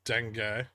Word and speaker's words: dengue: NW, it is pronounced dengue. It's it's like deng gay.